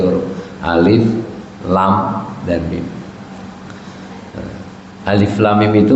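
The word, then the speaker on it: الم: Alif lam mim itu bacanya juga harus benar. Alif af. Alif lam mim lam mim. Jadi ini panjang lam dan mimnya. Dan dari lam ke mimnya saja ada tasdid.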